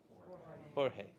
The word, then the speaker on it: Jorge: You know how to pronounce that? Jorge. Good. So I did too, because I'm from Southern California, and he was surprised when I opened the door and I said Jorge, and he was like, he gets it, and